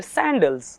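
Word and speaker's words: saddle: normally girls they where सैंडल right और हम इसको सैंडल में से अगर एन हटा देंगे तो दिस इस व्हाट वे प्रोनाउंस सैडल सो ये सदल बहुत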